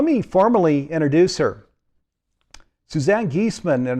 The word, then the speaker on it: Giesemann: the program let me formally introduce her suzanne geesman and it's pronounced geeseman is a highly sought after and respected medium